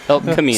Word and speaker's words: Elk Camino: Elk Camino. So we switched the C and the K.